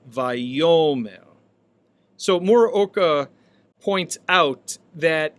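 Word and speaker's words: וַיֹּאמֶר: Now, oftentimes in the Hebrew scriptures, when we have the vav consecutive of this verb, it appears as vayomer, vayomer, with the accent on the penultimate syllable, vayomer.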